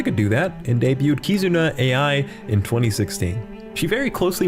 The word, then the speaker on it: Kizuna AI: do that, and debuted Kizuna AI in 2016. She very closely resembles... Isn't it pronounced Kizuna I? But, because she's like not an AI.